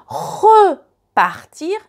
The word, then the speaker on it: repartir: Répartir ou repartir. So, just the accent on the E, and you can notice it in the pronunciation.